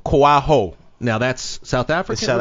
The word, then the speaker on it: Koaho: last name yes sir which is pronounced koal ho koaho now that's South African